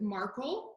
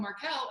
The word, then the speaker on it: Markel: And I always pronounced it Markle until I called and spoke with an agent and they said, "Hello, thank you for calling Markel." And I was like, "Oh, I've been saying your name wrong all along. I thought it was like Meghan Markle."